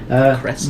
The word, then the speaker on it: Krezk: Crest? It's spelled Krezk.